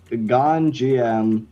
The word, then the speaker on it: Gonjiam: It's Ganjiam, which is spelled Gonjiam, Haunted Asylum.